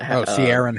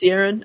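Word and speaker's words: Ciarán: I I I think I say his first name wrong man Raider what Saron Hines it is sierin okay um yeah as roor um Ro what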